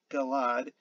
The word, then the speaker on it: Gilead: word probably comes from the biblical gilead the region east of the jordan river pronounced galad in the region and in assyria and